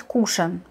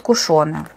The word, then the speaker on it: кушон: Правильно говорить кушан, но многие говорят кушоны, кому как нравится, но правильно говорить кушан.